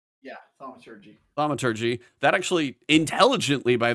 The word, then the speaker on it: thaumaturgy: Yeah, thaumaturgy.